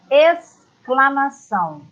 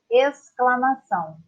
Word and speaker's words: exclamação: Com XC, é outro dígrafo, eu escolhi a palavra exclamação. Exclamação. É como se fosse só um S. Então, quando você fala, é apenas um som.